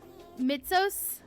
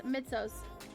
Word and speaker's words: Mitsos: It's Greek and you're supposed to pronounce it as Mitsos if you're curious. Mitsos. Okay. Okay. Mitzos.